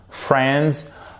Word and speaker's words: friends: l'idéal c'est friends OK vous ne prononcez pas évidemment le i voilà friends qu'est-ce que vous aviez